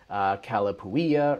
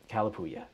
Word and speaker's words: Calapooia: order a beer, because I don't want you to mispronounce it Kalapuya or something like that. Kalapuya.